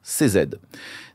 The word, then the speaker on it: Cizeta: Le nom Cizeta vient de ses initiales, prononcées en italien CZ.